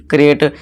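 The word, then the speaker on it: create: गटे पढ़ेंगे है ना कराटे पढ़ेंगे इसे क्रिएट क्रिएट को कराटे कर देंगे लेकिन ये दोस्तों क्या हो जाएगा गलत हो जाएगा ठीक है दोस्तों तो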